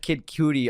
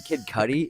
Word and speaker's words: Kid Cudi: I said it yeah you said kid cutie on air I'm like you mean Kid Cudi oh man guilty all